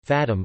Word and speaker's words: Fátima: The Fátima prayers, Portuguese pronunciation, Fátima, are five Catholic prayers that originate from the Marian apparitions at Fátima, Portugal, in 1917.